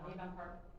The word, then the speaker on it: Avon Park: Veterans Expo, January 6th through the 8th in Avon Park. Is that how you say it? Yeah. Avon Park.